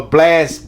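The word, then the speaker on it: Blxst: tripping blast I'm a blast blast out because it's BLX St is how you spell it go check this dude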